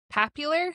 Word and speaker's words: papular: Papular. Mhm. You're not mispronouncing popular.